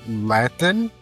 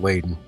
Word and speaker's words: Lathan: Sana Lathan? Layton? It's definitely not Layton.